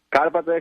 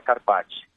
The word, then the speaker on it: Karpat: Carpatz seria o mais correto, mas aqui no Brasil normalmente o pessoal fala Carpati.